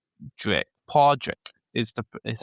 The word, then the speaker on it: Padraig: that it was pronounced. But he wanted to spell it like your name. And no one ever I pronounce it a bit long. It's more technically supposed to be Podge-rick.